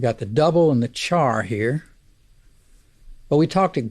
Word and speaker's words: char: values whose type is char by the way i pronounce c-h-a-r char but care is also an equally acceptable pronunciation since it's short for character and speaking of putting